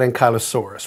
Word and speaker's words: ankylosaurus: I've been reading about ankylosaurus which I think should have uh have been pronounced closer to hanky instead of uny you're right some people